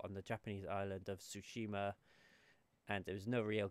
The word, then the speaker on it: Tsushima: samurai action game called ghost of Tsushima with the silent T and yeah just we